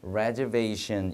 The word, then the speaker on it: reservation: 많이 갈라지거든요 그러지 마시고요 이거는 원래라는 동사에서 왔지만 룰처럼 발음이 되지 않고 reservation 이렇게 발음이 됩니다 tigion이 발음도 잘 지켜주세요 레저베이션이 아니라 이렇게 발음 된다는 것도 체크해 주시면 만점